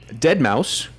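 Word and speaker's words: deadmau5: So, our next news story, Dead Mouse, spelled with a five, or DeadM 5, as Drew and I say, Dead Mouse responds to Disney trademark suit, says company stole his music.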